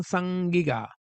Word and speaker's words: Sangiga: use of the term Sangiga. That's literally how it is pronounced, according to Assyriologists and Sumerologists, language specialists, better known as the black-headed people.